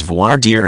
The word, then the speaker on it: voir dire: publicized trials it can be a lengthy process voir dire is a French term which means to speak truth and it is pronounced more or less as voir dire in some regions people use terms like jury